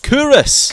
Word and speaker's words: Culross: Curus. Curus. People think it's called Culross because that's how it's spelled, but it is the